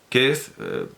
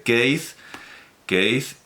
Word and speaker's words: Keith: va a pasar que en ningún caso tiene sentido la pronunciación Keith Richards más allá de una adaptación al ruso o al español de Argentina. Porque, como dije, es un nombre céltico, es un nombre gaélico, es un nombre escocés. Y me he ido a ver cómo se pronuncia en escocés, y no, también se pronuncia Keith, originalmente Keith, y se supone, significa